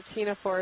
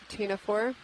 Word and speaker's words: ctenophore: Yeah, it's a ctenophore. It's a benthic ctenophore. Aren't ctenophores? Isn't it spelled with a P? Or something? C. A C, that's what it is. C-T-E-N-O-P-H-O-R-E. C as in ctenophore.